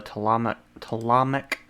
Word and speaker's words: Ptolemaic: She was queen of the Ptolemaic dynasty. The P is silent.